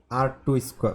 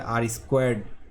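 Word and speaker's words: R squared: প্রথমেই যে একটা মেট্রিক আছে সেটাকে বলা হয় আর টু স্কোয়ার মানে আর স্কোয়ার স্কোর। ওকে, এটাকে অনেকে আর টু স্কোয়ার বলে, অ্যাকচুয়ালি এটা আর স্কোয়ার্ড বলে।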